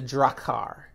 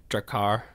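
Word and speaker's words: Draghkar: do you pronounce it dracar really it's a g and an h you leave those silent huh yeah uh in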